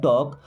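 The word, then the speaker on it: talk: दोस्तों यहाँ पे एल साइलेंट होता है ना, वी शुड टॉक, हमें बात करना चाहिए,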